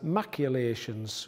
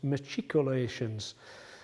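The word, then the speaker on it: machicolations: word matriculations because earlier in the series I pronounced that word as maculations which is incorrect so my apologies for that the word is actually pronounced matriculations and that is because the word matriculation comes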